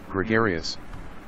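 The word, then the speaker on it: gregarious: So next one इज ग्रेगेरियस, और pronunciation check कर लेते हैं. ग्रेगेरियस, ग्रेगेरियस, और इसका मतलब होता है मिलनसार, या फिर आप बोल सकते हैं सोशल.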